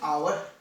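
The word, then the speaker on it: hour: अर्को एउटा उदाहरण हेर नानीहरू, यहाँ लेखेको छु मैले I will come back, I will come back in आवर।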